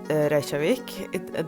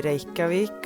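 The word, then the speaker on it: Reykjavík: why I pronounce it Rik it that's how we say it in Norwegian I know English speakers would say ravik or something that just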